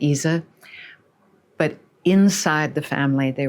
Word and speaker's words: Ise: ISE is pronounced Isa with the schwa vowel in German, Isa.